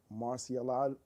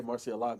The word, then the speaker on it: Marciology: At number 7, I have Rock Marciano, Marciology. There you I want to add an extra syllable. In there. Hey, you want to say Marcialago.